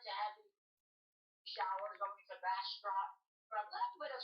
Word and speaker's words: Bastrop: How do you pronounce that county? My bad. That county will be called Bastrop. Bastrop.